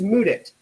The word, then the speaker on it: Mudit: So my name is Mudit. That's spelled M-U-D-I-T.